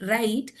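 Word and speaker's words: write: तब हमको यहाँ पे बताना काफी इजी हो जाता है कि इन the word राइट we spell it as WR, where W is silent.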